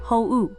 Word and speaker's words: 法: The innocent looking N4 kanji for law pronounced ho.